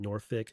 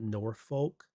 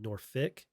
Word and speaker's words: Norfolk: So if you go to the FBI Norfick, they say they call it Norfick, not Norfolk. Call it Norfick.